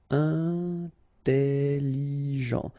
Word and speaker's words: intelligent: Final T not pronounced. So G-E-N. Jean. Okay. Intelligent. Double L, it opens the pronunciation of your E, so it's E.